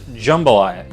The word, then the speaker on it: jambalaya: Now, I know it's spelled Jambalaya, but that's actually how you spell it, and it's pronounced Jambalaya, even though it's Jambalaya.